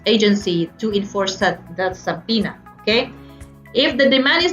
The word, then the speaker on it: subpoena: the power to issue subpoena it's pronounced subpoena not sapoina power to issue subpoena